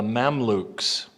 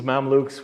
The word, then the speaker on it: Mamluks: From 1250 to 1517, a dynasty called the Mamluks. Spell it the way it sounds, M-A-M-L-U-K, something like that. M-A-M-L-U-K, I think would do it in English.